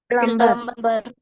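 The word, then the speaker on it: plumber: everybody come on പ്ലംബർ പ്ലംബർ ഇത് ഇത് നമ്മൾ പ്ലംബർ എന്നാണ് വായിക്കാറുള്ളത് അല്ലെ നമ്മുടെ വീട്ടിലേക്കൊക്കെ പൈപ്പ് മറ്റു കാര്യങ്ങളൊക്കെ നന്നാക്കാൻ വരുന്ന റിപ്പയർ ചെയ്യാൻ വരുന്ന ആളുകളെയാണ് നമ്മൾ പ്ലംബർ എന്ന് പറയാറുള്ളത് എന്നാൽ ഇത് പ്ലംബർ അല്ല പ്ലം ബി സൈലന്റ് ആണ് ഓക്കേ ചില വാക്കുകളിൽ സൈലന്റ്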